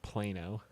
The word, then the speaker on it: Plano: As far as I know, it is pronounced Plano, Well, okay, but which is very far.